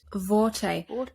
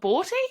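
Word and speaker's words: Borte: mouthful and we meet vorte it's spelled with a B but it's not pronounced as a b it's pronounced with a v in the audio book it's a v it's not boughty it's not boughty it's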